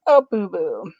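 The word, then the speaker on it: Ababwa: But Avery got the pronunciation. But it's Prince Abubu.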